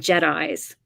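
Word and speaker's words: JITAI: know just in time they're called jedis spelled j-i-t-a-i and in that way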